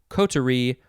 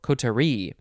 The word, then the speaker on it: coterie: harmf next word is kotori kotori or let's see you can emphasize the first syllable coterie or the last syllable kotari c-o-t-e-r-i-e noun from 1738